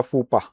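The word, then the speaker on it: faux pas: Okay you know you have made a फूपा।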